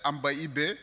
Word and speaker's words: Ambaïbé: Alors moi, c'est Ambibé. Et je prononce très bien mon nom quand je suis avec les Dogons. C'est Ambaïbé, ça veut dire l'amour de Dieu.